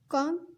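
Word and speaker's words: comb: आई कॉम my hair. यहाँ पे बी को साइलेंट रखना, बी की आवाज़ नहीं निकलेगी।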